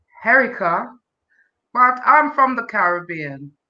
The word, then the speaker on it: Herricia: name well of course my name is pronounced herica but i'm from the caribbean specifically jamaica and it's spelt harishia by is pronounced herica thank you i uh